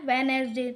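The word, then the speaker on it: Wednesday: First है वेडनेसडे। तो इसमें से हो जाएगा डी जो कि हमने लिख दिया है। हम बोलते हैं वेडनेसडे ना कि वेडनेसडे है।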